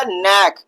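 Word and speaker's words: neck: जैसे यहां पे हमने लिखा नेक के एनए सी के नेक। तो यहां पर हम सी का प्रोनाउंसिएशन नहीं करेंगे।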